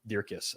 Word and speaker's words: Dierks: Chris Dierks, everyone. Dierkis, I should say.